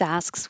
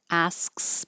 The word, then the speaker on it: asks: And asks by itself can be tricky because there's a lot of movement from the S to the K to the S. So asks, as I'm still making my S with my tongue in the front, the back of my tongue is going up and making the K.